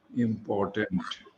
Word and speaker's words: important: Yes, I noticed that you pronounce the O correctly in a word like importance, important. You Okay, must sir. pronounce round it off. Important. Don't make it into U or A.